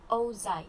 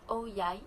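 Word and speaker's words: áo dài: Okay, the áo dai, pronounced Âu Dai in the south and Âu Dai in the north, is a quintessential symbol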